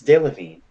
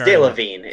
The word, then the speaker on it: Delevingne: It's Delevingne. I don't. Did I pronounce it Jen's wrong? over it. No, it's Delevingne.